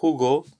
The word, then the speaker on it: jugo: And Hugo, so Hugo, it's the J is just like an H in help in English, but a little bit raspier.